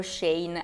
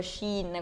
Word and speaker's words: Shein: al centro della polemica c'è Shin o shein anche se si dovrebbe pronunciare tipo Shin con la pronuncia cinese Vi volevo dire questa